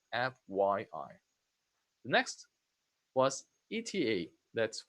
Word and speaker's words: FYI: This is also pronounced letter by letter. FYI.